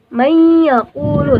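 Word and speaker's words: مَن يَقُولُ: Jadi nun sukunnya itu nggak usah dibaca, jadi langsung masuk ke dalam huruf keempat itu yaitu ya. Jadi bacanya mayyaqulu sambil berdengung.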